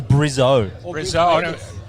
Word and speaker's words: Brizzy: friend I'm very good as the locals say Brizzy right we're in Brizzy or brizzo when I was here 10 years ago they said Brizzy so now the kids